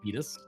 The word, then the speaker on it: Titus: I say Titus. Is it So- actually supposed to be pronounced Titus? Yeah, It's Titus. it is Titus.